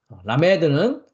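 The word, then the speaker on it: למד: 갖고 있는 소모리 막대 라메이라고 했습니다 라메 라메 라메 라메드 어 쌍 리얼입니다 영어로는 L 발음을 가지고 있습니다 그다음 글자는 물이라는 의미를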